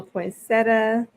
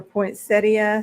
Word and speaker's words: poinsettia: present there with a little poinsettia or poinsettia however you want to pronounce it depending on where you live it's just so so